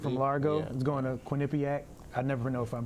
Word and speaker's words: Quinnipiac: There's Abdullah Bundu from Largo is going to Quinnipiac. I never know if I'm pronouncing it right. Quinnipiac.